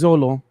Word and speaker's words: Xolo: this name because uh how do you pronounce the first name Xolo is this is this solo I think so let me look up his pronunciation again while you look that up uh I'm gonna say I'm gonna call it Zolo yeah it's Zolo okay so Zolo maridonia